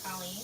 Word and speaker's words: Colleen: I'm not sure if his name is pronounced Colin or Colleen. It's Colleen.